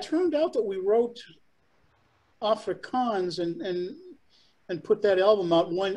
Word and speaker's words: Afrikaans: If I'm pronouncing it right, the first song against apartheid, was it pronounced Afrikaans? Is that how it's? Yeah, Afrikaans.